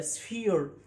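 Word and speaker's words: sphere: اي ساكن اي يبقى سفير والار يا جماعه سفير سفير طب البي اتش هنا هقول له طبعا الفونكس بتاعتي هقول له بنطقها اف اي بي اتش بنطقها زي كلمه اليفانت يبقى سفير سفير مش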